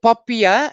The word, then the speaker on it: POPIA: from the poppy act and just call it poppier all right so papia and if you hear poppy act it's the same thing you just basically you spell it the same anyway just has an additional a on it but because the